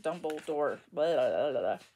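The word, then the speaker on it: Dumbledore: forgot how you say his name Albus Dumber dumbledor yes I would like a full schem of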